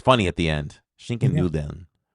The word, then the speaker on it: Schinken-Nudeln: Um no idea how to pronounce this one, but it is a pasta Oh, that's that's that's uh Schinken-Nudeln.